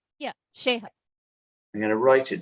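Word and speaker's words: Sheiha: S-H-E-I-H-A, but the I is silent. S-H-E... I. I'm going to write it. So, it's Sheha. Is that right? Yeah, Sheha.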